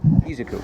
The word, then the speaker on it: Izuku: So All Might shows up and saves Izuku. Am I saying it right? Gosh. Izuku.